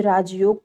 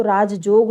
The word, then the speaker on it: राजयोग: अशुद्ध वाचन, जैसे राजयोग को राजजोग लोग बोलते हैं। राजयोग शब्द शुद्ध है, लेकिन जब उसका उच्चारण लोग राजजोग की सहायता से बोलते हैं, की तरह बोलते हैं राजजोग के, तो यहाँ उच्चारण क्या हो जाता है, गलत हो जाता है और लिखावट भी